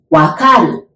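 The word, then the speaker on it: わかる: to verth so original casual way that is wakaru Waka do you remember the movie Black Panther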